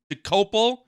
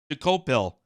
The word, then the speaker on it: Dokoupil: So, this guy Tony Doapill, I think it's I think it's Dopal. I think that's how you say it, but it does look like it's spel it looks like uh Dopil, doesn't it?